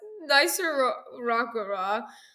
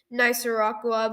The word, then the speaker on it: Nicaragua: So, it's Nicer Rockera. That's not how you say it at all.